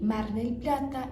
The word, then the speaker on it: Mar del Plata: Eles nunca pronunciam Marel Plata, não. Eles falam Marel. Aí eu vou para Marel esse fim de semana. Mardel. Mardel plata. Eles só tiram o plata e juntam a palavra mar com dele.